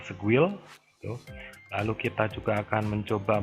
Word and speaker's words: Sguil: Part pertama adalah kita akan melakukan review menggunakan ini ya, SQL, bacanya Squil.